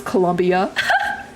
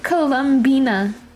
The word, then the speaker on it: Columbina: I don't know why I always thought it was Columbia. It's just the way it's spelled. But I didn't know it was the Bina part at the end. Columbina.